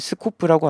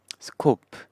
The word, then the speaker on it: scope: 그래서 이 범위를 스코프라고 합니다. 스코프라고 하는데, 스코프라는 단어가 스코프, scope, 스코프, scope, scope, 스코프인데, scope, 네, 스코프 발음 이런데 콩글리시 스타일로 스코프 이렇게 합니다.